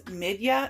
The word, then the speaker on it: Midja: to pronounce that is Midya and not Midja, because I was saying the J like a J and it should be pronounced like a Y.